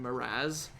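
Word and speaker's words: Mraz: stuff called uh jason he himself pronounced it and like all the media pronounces it jason marazz but it's spelled m-r-a-z and like in slovakia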